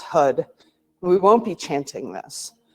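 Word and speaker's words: Har: call it tantricar and it's h a r but it's pronounced hud we won't be chanting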